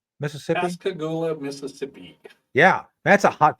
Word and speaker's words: Pascagoula: Command at Ingalls Shipyard and how do you pronounce that? Pascagoula, Mississippi? Pascagoula, Mississippi.